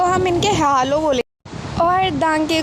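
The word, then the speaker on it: Danke: अब देखो इसने हमको प्रोनाउंसिएशन के बारे में बताया है कि हेलो को हम इनके हेलो बोलेंगे। और दांके को दंका, पिटे को बिटा।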